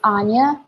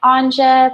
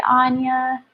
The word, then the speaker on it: Anja: hi my name is Anya it's spelled a and J a it looks like on Jeb but it's really Anya like Tanja without the teeth I managed at on